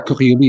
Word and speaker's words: Coriolis: Coriolis is the proper pronunciation, but the Coriolis effect.